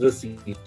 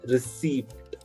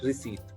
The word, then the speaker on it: receipt: said it's pronounced as receipt you don't pronounce the letter p there you don't call it received you just call it receipt can someone tell me